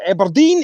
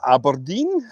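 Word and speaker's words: Aberdeen: I'll call Eberine. Eberine. Not Aberdine. Aber.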